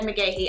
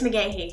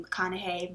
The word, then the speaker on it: McGahey: I feel like I've never really specified how to pronounce my name on any of my platforms or in a video at least, and it's McGahey. I've had people call me McConaughey, McGugahey, all kinds of things